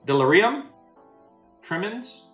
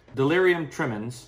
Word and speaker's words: Delirium Tremens: there's also pink elephant this is delirium trimmings sure i mucked that up i should probably call my buddies he can ask him how to say it properly yeah i'm gonna do that right now okay delirium tremens is the correct way to say it